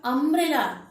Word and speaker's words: umbrella: But when we pronounce the word umbrella, though it starts, please listen. Though it starts with U, the spelling of umbrella starts with U, but the sound that we are getting, it is a, And this is the second sound of A.